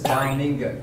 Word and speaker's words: Domingo: Domingo. Tagapuriya. Oh. It's pronounced as Domingo. Man, that's actually a Spanish term for Sunday. And that's also what we call Sunday here in the Philippines, Domingo.